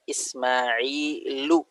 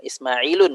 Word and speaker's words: Ismailu: Limadha Ismailu, bukan Ismailun ya. Ismailu. Kenapa? Ahsan, tadi dijawab dibacanya Ismailu. Tapi jangan sampai ada yang baca Ismailun. Kenapa nggak boleh Ismailun? Isim ghair munsharif, Ustaz. Karena isim yang ghair munsharif. Isim yang tidak boleh ditanwinkan. Baik.